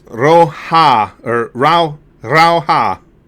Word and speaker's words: Rauha: afraid to use it Finnish language in general is about rolling them arse and putting emphasis on the first letter or part of the word oh really that's good